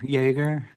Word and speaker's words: Jaeger: This is the time set for an original hearing for Jaeger. JAEGER's how you Jaeger?